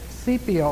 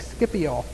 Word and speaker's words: Scipio: While Hannibal was over here, you've got a Roman general named Scipio, it looks like Scipio. S-C is spelled with, starts with an S-C.